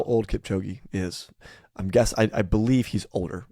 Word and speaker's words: Kipchoge: I just did not pronounce it as properly as you did. The marathon runner Kipchoge. Kipchoge, if it's correct.